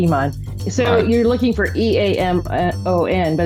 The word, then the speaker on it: Eamon: first book is called Amon it looks like Iman but I like to use Irish words yes